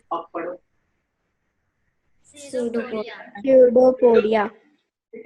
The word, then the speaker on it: pseudopodia: मैंने बोला था पी साइलेंट है, क्या है? Pseudopodia. Podia. इस पी को भूल जाओ, मतलब लिखना ऐसे लिखते वक्त में मत भूल जाना, फिर गलत हो जाएगा, ठीक है।